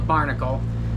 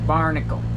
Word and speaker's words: BRNKL: It's called the Barnacle, which is this is how you, let's see, good way how to spell it. But anyways, it's how it sounds. Barnacle.